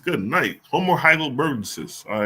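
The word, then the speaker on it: heidelbergensis: me see how you pronounce that if there's pronunciation from that on here there is hle bensis good night hom more hle bensis all right I a going be remembering that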